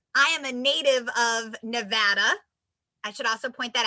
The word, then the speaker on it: Nevada: am a native of nevada i should also point that out bonus points if you say it correctly we get very very angry if you say it as nevada so if you learn